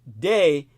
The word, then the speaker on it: Dei: inclusivity it is in its acronym Dei pronounced day and is the Latin